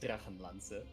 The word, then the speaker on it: Drachenlanze: Yeah, the way you pronounce it is Drachenlanze, by the way.